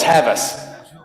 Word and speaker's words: Tavus: It's called TAVUS. T-A-V-U-S. TAVUS. T-A-V-U-S. TAVUS. I think is the way you spell it, pretty sure.